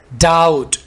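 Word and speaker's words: doubt: डाउट, बी को यहाँ पर साइलेंट रखें.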